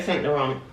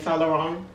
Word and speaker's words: Saint Laurent: really wish i could i would say saint laurent but um that is not how you pronounce it i was watching um tamera and she was saying salarang because she she can do the accent way better than me